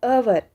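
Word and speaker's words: hour: क्या है यहाँ पे, एच साइलेंट है, लेकिन ये आ रही इसकी आवाज़ कैसी, अवर, अ से आ रही ना, अवर, तो इसके साथ भी क्या आएगा, एन आएगा।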